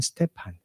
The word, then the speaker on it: 스테판: 예전 성경은 스테반이라고 했지만 스테판 좀 영어식 발음에다 가깝게 발음을 했습니다. 원어도 그렇습니다.